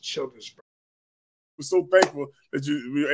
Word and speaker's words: Childersburg: I don't exactly know the population, but it's pronounced Childersburg.